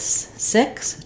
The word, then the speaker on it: six: pronounce the X so the letter X says different sounds and different words in this word it has the C and the S sound I've written here with